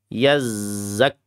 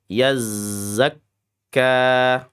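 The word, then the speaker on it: يزكى: Yazzak yazzakka zanya rakhawah, k-nya syiddah ya. Yanya tawas yazzakka. Yazzakka bukan yazzak yaz malah ada s-nya lagi ya.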